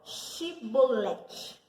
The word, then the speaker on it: Shibolete: fale assim comigo, ó, Shibolete. E aí eles não conseguiam falar. Porque eles não conseguiam pronunciar o shi, chá, sabe?